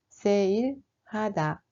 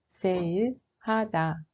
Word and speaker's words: 세일하다: We write it like 세일, but it is pronounced like sale. 세일하다, 세일하다.